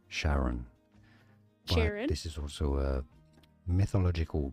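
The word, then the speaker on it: Charon: This is generally said by astronomers as Sharon Sharon.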